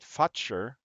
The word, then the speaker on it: Fuchur: Uh, I asked my wife how she would pronounce it as a Native American, and she said Futcher, but it could also be, the F word in a way.